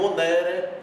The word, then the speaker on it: monere: Então, aqui, enquanto aqui eu digo monere, adibere, aqui eu digo legere, defendere, quer dizer, a sílaba tônica está antes do E.